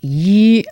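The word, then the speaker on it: 一: Yi is 1 and it's a flat tone. I'm not sure that I've got an easy bridge for that. Yi, I've picked one up maybe. Yi, yanking it.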